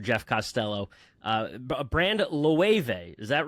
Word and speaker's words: Loewe: We are we are Loewe. Term it's a German pronunciation of the word.